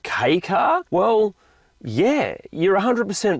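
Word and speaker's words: kei car: And these are both key cars. Now, if you don't know what a key car is, basically they're a tiny wee little car made for the Japanese domestic market.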